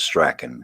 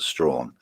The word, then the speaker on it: Strachan: Some people pronounce it Strachan, but old Scotland calls it Strawn, and that's their family.